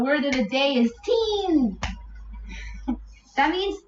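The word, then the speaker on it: तीन: First there's a ta, then there's a long E sound, and then there's an N. Teen.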